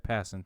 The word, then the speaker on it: Passan: major league B yeah Jeff Passan thinks I didn't know that's how you pronounce his name cool yeah I read